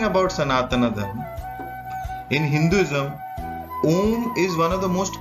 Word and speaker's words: Om: The mantra Om consists of 4 syllables, A, U, M and the silent syllable.